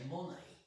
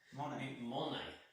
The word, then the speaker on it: Monet: Now I would say actually, sorry to cut you in there, I would say Monet. Monet, as a Monet. Usually it's like kind of the silent T on the ending.